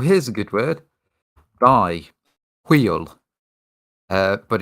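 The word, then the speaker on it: hwyl: honest well here's a good word by wheel uh but it's spelled h-w-y-l IO HW is that wheel oil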